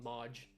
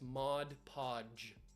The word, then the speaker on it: Mod Podge: Podge another part's Modge Modge it's not Modge it's Mod Podge I hate when people pronounce it wrong mud PUD incorrect sand into the bucket